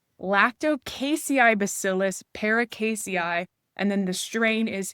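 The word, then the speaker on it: Lacticaseibacillus paracasei: Lactobacillus paracasei. Oh, sorry. No, I said it wrong. They changed the name. Lactocasei bacillus paracasei.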